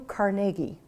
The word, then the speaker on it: Carnegie: know anything about the man our new Andrew Carnegie that officially is the way one should pronounce this name you came from very humble